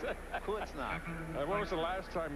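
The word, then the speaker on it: Bad Kreuznach: I hit the point that I want you to pronounce it. Kurznach.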